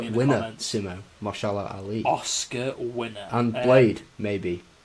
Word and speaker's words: Mahershala Ali: I'm terrible at pronouncing names. You say it. Mahershala Ali. Yeah, as people are going to hate me in the comments. Simo. Mahershala Ali.